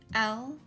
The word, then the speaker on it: light: Now, in this word, the I-G-H all goes together and it makes a long I sound. I. Then the L at the beginning is by itself and the T at the end. So let's go ahead and sound it out.